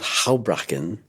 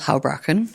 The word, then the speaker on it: Houbraken: Well, now we'll turn to the third author, Arnold Houbraken. Pronounce it for me. Arnold Houbraken.